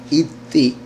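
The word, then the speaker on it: אתי: También la palabra iti en hebreo son las letras Aleph, Taf y Yud. Entonces, et más la Yud, pero la pronunciación que le dan es iti. La Yud final es la última I, obviamente. Entonces, Aleph y Taf ¿Qué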